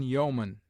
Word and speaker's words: yeoman: EO is found in yeoman, where it is sounded as o short, and in people, where it is pronounced like ee.